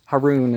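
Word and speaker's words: Harun: with him his brother Aaron as a minister Haron is how the name would have been actually pronounced Haron you know we gave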